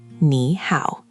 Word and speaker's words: nǐ hǎo: Let's break the first one. Nǐ, the initial is n, the final is i, and the tone mark is that little v-shape, which is tone three, the dipping tone.